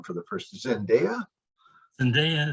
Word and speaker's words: Zendaya: Zendaya is how she says it.